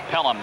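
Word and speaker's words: Pelham: train in New York pelum but it's spelled differently matter of fact Walter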